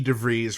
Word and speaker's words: DeVries: years were you and devries rhymes with cheese actually working on getting